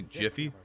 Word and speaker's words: GIF: yes yes yeah yes pronounce it with a G like how it should be a gift without the T not a jaffal [